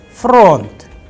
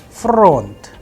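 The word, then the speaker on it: фронт: So in case of front, it has only one vowel, that is O, of course. So the udarenie or the stress is on O, that is why the sound of O is under stress, and I am pronouncing with higher pitch on O.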